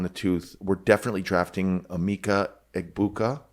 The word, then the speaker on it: Emeka Egbuka: We're definitely drafting Emeka Egbuka. Pronounced that correctly.